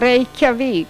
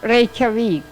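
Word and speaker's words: Reykjavík: I couldn't pronounce that one. Reykjavik. Huh? Reykjavik. Reykjavik?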